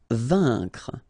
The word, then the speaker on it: vaincre: Vaincre. A-I-N together. Here it's un.